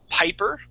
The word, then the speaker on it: piper: So in the reading, we have the word piper. Piper. Okay. Yeah. So make sure to pronounce that P.